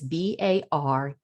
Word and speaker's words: Bareilles: It's Bareilles.